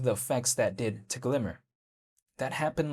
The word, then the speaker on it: GLMR: in regard to Glimmer, which is spelled g l m r, but apparently the way you say it is Glimmer, but even besides that, that right there is the native utility token of Moonbeam.